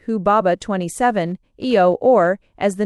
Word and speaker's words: Humbaba: of the cedar forest, Humbaba, but probably pronounced Hubaba 27 Eio or as the name appears in the old Babylonian version, Huwa.